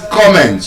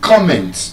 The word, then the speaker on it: comment: So, it is comment, your comment on something. You don't comment. You comment on something. Can I have your comment? I am going to comment, not comment, on something.